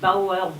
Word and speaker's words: Boer: hein, les Hollandais d'abord, les Boers, les Bauer, Boer, on dit comme on veut, en hollandais je crois qu'on prononce Boer, B-O-E-R-S, qui étaient, si j'ose dire, des colonisateurs territoriaux, ruraux.